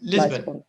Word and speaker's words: Lisbon: Is silent ولا لا مش silent. عادية. Lisbon.